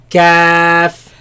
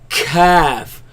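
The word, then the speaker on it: كاف: Don't say calf. No, ka, calf, Kaf.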